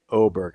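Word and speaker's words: Åberg: Yep, Ludwig Oberg. I believe with the umlaut above it, it's pronounced as Oberg.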